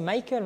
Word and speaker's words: Michael: Pourquoi tu ne prononces pas la française? Parce que c'est Michael, moi je m'appelle Michael.